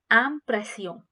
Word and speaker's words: impression: like the next word is impression which is pronounced as ampression and if you like my videos do subscribe